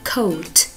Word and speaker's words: coat: Khi O và A đi cùng nhau, A rất xấu hổ nên bạn A rất xấu hổ nên bạn A im lặng, chỉ có bạn O lên tiếng thôi. Vì thế O và A đi cạnh với nhau thì chỉ được phát âm là O.